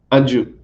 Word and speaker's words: Anju: do you pronounce your name just so I'm pronouncing it properly anju perfect awesome and I know in somewhere I